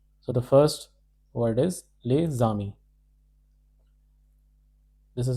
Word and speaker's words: les amis: This particular word is pronounced as les, and this particular word is pronounced as ami. However, because of this liaison rule, the rule is when a word ends with a silent consonant, here S is not pronounced, and the next word begins with a vowel A, E, I, O, U. The next, or Y, the next word is beginning with a vowel A. Then we link the consonant of the